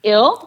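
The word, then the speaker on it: Ils: is called them or in French it's ill I LS which means them so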